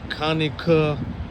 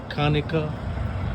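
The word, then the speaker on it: Conecuh: I'm in uh Kaneka, Alabama. C O N E C U H Alabama. I guess that's pronounced Kaneka.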